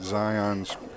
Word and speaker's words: Zion: just getting Zion's pronunciation directly from him, and it is Zion.